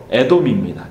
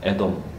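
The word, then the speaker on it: אדום: 이 붉다라는 단어가 히브리어로 에돔입니다. 에돔. 그리고 이 털이라는 단어가 히브리어로 에사우입니다. 우리나라 발음으로 하면 에서입니다.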